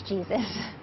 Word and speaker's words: Jesus: Yeah, my last name is Jesus. Yup, that's how she pronounces it, and she's been doing her own version of Housing First for more than a decade.